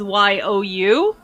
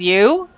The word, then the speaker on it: Yo: I thought his name was Yu Hayabara because the fan translation spelled it as Y-O-U. So of course I pronounced it as Yu. No, it's pronounced Yo. It's Yo Hayabara.